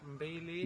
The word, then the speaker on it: mbili: Mbili.